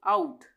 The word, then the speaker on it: out: है ओ से ही, पर यहाँ पे हम इसका उच्चारण क्या कर रहे हैं, आ, इसका उच्चारण कर रहे हैं आ, OUT आउट, OUCH आउच, यहाँ पे ओ का उच्चारण आ रहा है दोनों में, ठीक है, आउच हो गया।